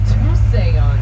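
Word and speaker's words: Tusayan: here right now is called Tuesday on that's how you pronounce this town today that translates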